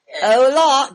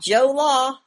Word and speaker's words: hola: Hola, Joe Law. No, it's hola.